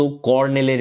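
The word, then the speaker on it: colonel: একজন অবসরপ্রাপ্ত কর্নেলের মেয়ে ছিল। উচ্চারণটা কিন্তু হবে কি? কর্নেল। ঠিক আছে? লেখার সময় লিখতে হবে কলোনেল। কিন্তু বলার সময় বলবে কর্নেল।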